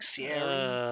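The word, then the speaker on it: Ciaran: Apparently, there's another way you can actually say Kieran's name. It's Siren, like Sieran.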